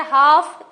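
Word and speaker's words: half: मी के साइलेंट है हाफ L silent है ऑनेस्ट एच साइलेंट है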